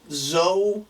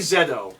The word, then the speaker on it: ZO: know it's not me Zed oh I know it's not zo I'm sure that it's not the CEO because we're the only people that pronounce at Z it's Zed Zed oh okay well that